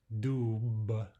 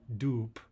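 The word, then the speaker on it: дуб: The word for oak tree is not dub, dub, but rather dupe, dupe.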